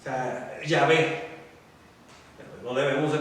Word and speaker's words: Yahvé: Y es el tetragrama lo que está ahí, que nosotros no pronunciamos. O sea, Yahvé.